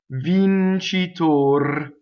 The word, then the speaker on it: vincitor: And a closed O is like the O in oats without the glide. Vincitor, closed O. And again, you can do a purity test. E, O, R, and then roll your R. Vincitor.